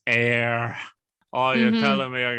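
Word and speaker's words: Éire: And he says, "Well, looks like you gotta go to Erie." And Sheamus is like, "You keep saying it wrong. It's air.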